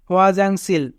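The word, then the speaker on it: 화장실: হিউত প্রথমে থাকলে হ, যদি দুটি স্বরবর্ণ থাকে তবে নিজের স্বরবর্ণটা আগে উচ্চারিত হয় ও ও আ ও আ। জিউত মাঝে থাকলে বর্গের জ, আ যা, ইয়ং নিচে থাকলে অনেক সার জাং। সিউত মাঝে থাকলে দন্ত স, ই রাসি সি, রিউল নিচে থাকলে ল।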